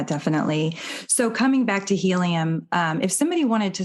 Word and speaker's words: Healium: VR App Store and helium is spelled h EA L IU M like healing but helium and um we have